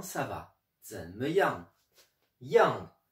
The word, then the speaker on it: 样: Aujourd'hui, je vais vous expliquer l'étymologie, l'histoire du caractère yang, qui est dans l'expression zhen me yang, comment ça va, zhen me yang. Yang, yang, quatrième ton, Y-A-N-G.